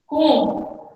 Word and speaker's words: comb: Comb. It is pronounced comb.